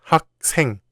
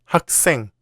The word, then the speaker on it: 학생: 학 ends in 기역, and 생 starts with 시옷, so it's not 학생, but 학생.